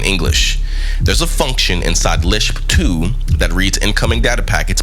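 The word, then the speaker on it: libssh2: It's called, here we go, LIBSH2. And this is spelled LIBSSH with the number 2. Now stay with me because this matters. LIBSH2 is a little open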